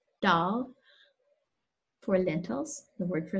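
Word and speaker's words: दाल: Hindi hears two modes, one around the dental, more front, dal, for lentils, the word for lentils, so that's a word that's made its way into the English language, and the retroflex, dal, for branch.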